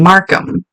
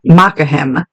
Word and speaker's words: Markham: now Tom was actually from Markham and my Witcher brain wants to pronounce that mahim but that's not right a city in the